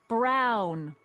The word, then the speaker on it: Brown: bill to a T that's Emmett Brown rhymes with clown which I'm beginning to